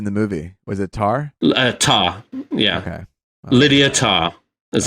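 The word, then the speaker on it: Tár: I was just saying, how did they pronounce her name in the movie? Was it Tar? Tar, yeah.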